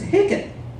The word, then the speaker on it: Hicken: My last name is Hicken. Just spelled like chicken, but without a C in the front.